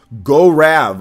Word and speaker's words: Gaurav: definitely pick it up my name is pronounced go Rav okay it's a tongue-twister